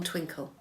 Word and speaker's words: Twinkl: Barton maths or also you can look on twinkle so twinkle it's traditionally a primary school resource it's spelled Twi and KL but it's free at